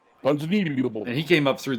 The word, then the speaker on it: Ponzinibbio: If you want to pronounce his name correctly, you have to do it underwater. Ponzinibbio.